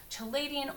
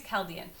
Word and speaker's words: Chaldean: can also go by the chaladian order uh the uh or the I always pronounce wrong I think it's Chaldean so anyway I have